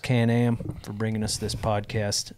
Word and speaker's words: Can-Am: Thank you to Can-Am, pronounced Can-Am, for bringing us this podcast.